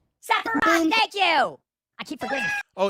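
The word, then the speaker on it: Sephiroth: SEPHAROTH. THANK YOU. I KEEP FORGETTING. OH, he keeps saying Zepharoth. It's Sepharoth from Final Fantasy 7. It's an S. Don't pronounce it with a Z.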